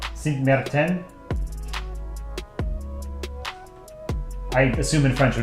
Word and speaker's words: Sint Maarten: The two A's in Dutch is usually pronounced like A in Marsh. Okay, so Sint Maarten.